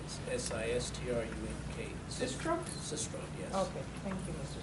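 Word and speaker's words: Sistrum: Sistrom, yes.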